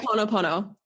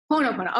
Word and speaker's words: Ho'oponopono: Ho'oponopono. Ho'oponopono.